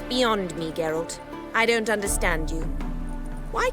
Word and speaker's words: Geralt: route I understand farewell geralt and good luck on the path appro that's a soft G oh tough times